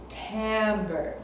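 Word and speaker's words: timbre: is called Tambor Tambor it's spelled with an i but you say it with an a Tambor and that's the color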